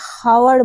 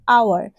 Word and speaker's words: hour: কারণ আমরা হাওয়ার বলি না, অ্যাকচুয়াল প্রোনাউন্সিয়েশন হাওয়ার নয়, ইটস আওয়ার, মানে সাউন্ডটার স্টার্টিংটা ভাওয়েলের মতো, সেই জন্য আমরা এখানে অ্যান ইউজ করছি।